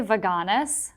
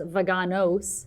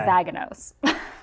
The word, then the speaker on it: Vaganos: but to be fair nobody pronounces it right so I say vaganus my sister my own sister says vaganos that's what I used to say and everybody else says bagos yeah so I was